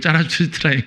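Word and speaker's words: Zarathustra: 그 말은 이제 독일어식으로 발음하면 짜라투스트라인 거예요.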